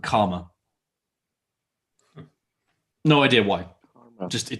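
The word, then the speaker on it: Caldmore: of it called that's You' see it written down it's cmore but that's no one calls it that it's called karma no idea why just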